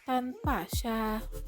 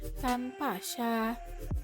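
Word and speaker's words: 登巴萨: Oke, jadi cara bacanya yaitu tanpa sya. Aku ulangi sekali lagi. Tanpa sya. Sekali lagi. Tanpa sya.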